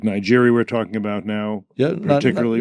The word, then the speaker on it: Niger: The Americans had made a big investment in Niger or Niger, the French pronunciation, and yet and that's been lost at this point.